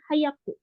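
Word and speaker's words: 速く: Tapi karena ini apa dibentuk jadi bentuk ku ya, i-nya dihilangkan, jadi dibacanya hayaku.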